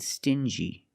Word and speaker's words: stingy: Example, dingy and stingy. These two words have the regular n sound plus the j like juice together.